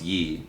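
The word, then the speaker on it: 이: last names are kim lee and pronounce yi and park pronounced bach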